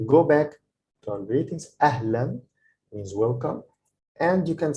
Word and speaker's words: أهلا: So this a character is when it's double, this is called like tanween. So this means that it's pronounced with an N. So ahlan, because here we don't